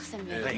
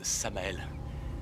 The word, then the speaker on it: Samael: Ravi de vous connaître, Samuel. Non, merci, c'est... Beaucoup. Je vous en prie. En fait, ça se prononce Samael.